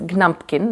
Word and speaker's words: Gnumpkin: One is Gnumpkin, another one is Gettle. She does that. They always have a silent G at the in the beginning of the word in the name.